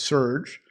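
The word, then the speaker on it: PSERG: So the pediatric status epileptics research group the P is silent. So it's surge is a prospective and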